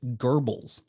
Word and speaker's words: Goebbels: propaganda minister and i looked up how to pronounce his name uh joseph goebbels yeah joseph yeah gerbils yeah yeah so he used it to make